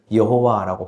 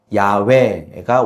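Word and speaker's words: יהוה: 그래서 예전에는 히브리어 단어를 여호와라고 발음했지만 19세기에 들어와서 야훼가 원래 발음이었다라고 하는 연구 결과가 나와서 우리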